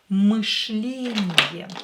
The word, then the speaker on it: мышление: Again, here we have «ы», that is sometimes difficult to pronounce, especially to American English speakers. Мышление. Мышление. And again, sh is very hard. You have to touch with your tongue your alveolus while you pronounce sh.